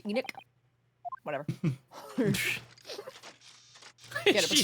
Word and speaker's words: Enoch: It's pronounced Enoch.